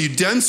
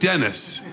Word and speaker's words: Dennis: you are you dense just tell us who you dense or what I said it's pronounced Dennis get it right then at the